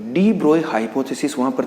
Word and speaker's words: de Broglie: ठीक है ना, ये एक्चुअल में जो वर्ड है वो डी ब्रोगली नहीं, हम जनरली इसका जो प्रोनाउंसिएशन करते हैं वो डी ब्रोगली करते हैं, जबकि ये वर्ड क्या है डी ब्रोए, because French word है।